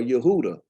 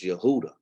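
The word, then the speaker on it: יהודה: of Jehoiakim, king of Yehuda. So Baruch, a prophet, I'm assuming he would be considered a prophet. He around the king of Judah, or Yehuda, as we say, ain't no J in Hebrew.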